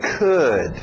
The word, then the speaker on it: could: Mesmo som de good, could, okay?